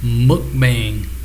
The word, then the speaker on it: mukbang: One of y'all said it's pronounced mukbang.